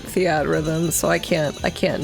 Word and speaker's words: Theatrhythm: I know it's probably pronounced theater rhythm, but I always just pronounced it Theatrhythm, so I can't not at this point.